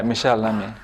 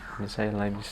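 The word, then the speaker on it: Michèle Lamy: Yeah, Michelle Lamy. Michelle Lamy.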